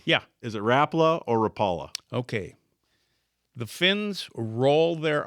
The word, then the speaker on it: Rapala: Is it Rapa or Rapala? Okay. The fins roll their ars. Ro throw deep roa. Okay. We call it rapa out east. It's rapala.